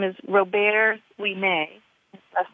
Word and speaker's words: Ouimet: his name is Robert Ouimet. His last name is spelled Ouimet, and Robert is like Robert, only in French, Robert Ouimet.